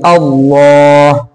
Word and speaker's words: अल्लाह: जो लफ्ज़ अल्लाह का ये लाम है ये मोटा पढ़ा जाएगा, यानी पुर पढ़ा जाएगा। यानी ऐसा पढ़ेंगे अल्लाह अल्लाह, और अगर उससे पहले ज़ेर होगा तो बारीक पढ़ेंगे।